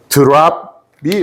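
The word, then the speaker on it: drop: 테크닉이라고 말씀드린 테크닉 중에이 드롭이 해결이 된 거거든요 이게 드롭이 드롭 예 드랍이 원래는 맞는 저 발음이 드랍 예 우리는 그냥 드롭 드롭 그러죠 이제 콩글리시로 막 드롭이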